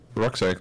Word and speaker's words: Rucksack: Rucksack, like a backpack. Oh, yeah. Okay. In German you pronounce it Rucksack.